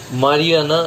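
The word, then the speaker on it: marijuana: এটা বইয়ে লেখা থাকে মারিজুয়ানা বলে, মারিয়ানা এটা হচ্ছে অ্যাকচুয়ালি ওর উচ্চারণ।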